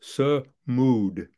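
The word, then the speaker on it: صمود: they were they're resilient their word in Arabic is smooth it's one of my favorite words sir mood phonetically spelled s-u-m-u-d studs stands for steadfast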